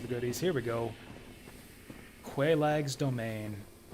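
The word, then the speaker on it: Quelaag: Quaelag's Domain. I've heard some people pronounce it Kellogg. Kellogg's Domain, which is kind of fucking weird.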